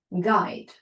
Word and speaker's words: guide: Put, but, unit, June, guide. So it's completely silent in the last one.